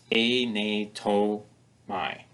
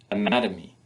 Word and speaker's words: anatomy: we don't get that where is the stress in this word anatomy anatomy you can hear that the stress is on the second syllable the other syllables are spoken more quietly their unstressed Anatomy holds